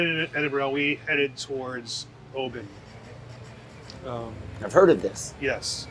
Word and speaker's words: Oban: We headed towards Oban. I've heard of this. Yes, it is Oban, not Oban.